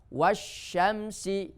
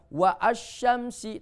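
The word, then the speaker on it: والشمس: Wasyamsi wa duhaha, wasyamsi, ya. Karena sebelum alif itu ada huruf, maka alifnya atau hamzanya tidak dibaca, karena hamzanya hamzah wasol, bukan wa asyamsi tapi wasyamsi.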